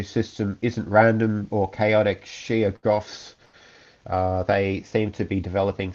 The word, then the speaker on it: Shoggoth: That behind the mask there is actually a Sheergoth or a Shoggoth a Shoggoth. That's the right pronunciation.